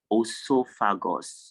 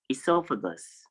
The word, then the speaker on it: esophagus: It is not esophagus, or I don't know how you pronounce it, but the correct pronunciation is esophagus.